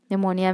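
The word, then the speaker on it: pneumonia: निमोनिया में P silent रहता है, याद रखिएगा।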